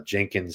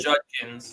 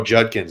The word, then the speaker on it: Judkins: just insane running backs like uh Jenkins and Henderson both just so stink good Judkins oh Judkins I'm sorry thank you Mr blae see I'm mispronouncing stuff all over the place um but Zach who